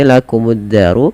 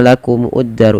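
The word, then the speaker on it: لَكُمُ الدَّارُ: Kemudian pada lafal addaru di sini lakumuddaru ini tidak dibaca lakumuuddaru. Ini alifnya diengab tidak ada. Dan di sini langsung kita hukumi dengan alif lam syamsiyah yang di mana alif lamnya diidgamkan dimasukkan ke huruf dal langsung ditekan di dalnya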